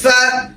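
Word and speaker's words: فاء: আলিফ, তারপর হচ্ছে ফা, তারপর আছে কফ, আবার আছে কাফ, আস্তে আস্তে আসবে। ফা, এক আলিফ টান, ফা, ফা, দাঁত কামড় দিয়ে, ফা, তারপর অক্ষর দেখেন কফ,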